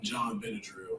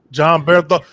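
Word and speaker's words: Jon Bernthal: I always say his name wrong, but I call him John Benadryl, and that's not his name at all. But the guy that plays Punisher is John Bernthal.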